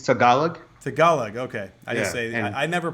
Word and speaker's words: Tagalog: It's Tagalog. Tagalog, okay. I never pronounce any of those things the right way.